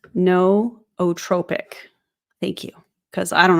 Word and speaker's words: nootropic: By the way, it's pronounced nootropic.